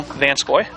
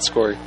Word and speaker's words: Vancoy: Vancoy. Yeah, not Skory. I said Vansoy, but it sounded Sky. Well, it was Vancoy.